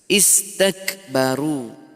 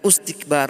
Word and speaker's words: استكبروا: Istakbaru. Tuh. Ini istighbaro. Perhatikan ya, bukan ustikbar atau astikbar.